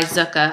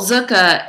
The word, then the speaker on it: Zuca: received the other day by zuka I don't know if you've ever heard of them before it's spelled um z u CA and and this bag is